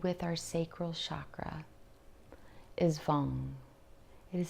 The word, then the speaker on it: Vam: And as I was saying, the seed mantra is Vam, V-A-M, but it's pronounced Vang, V-A-N-G.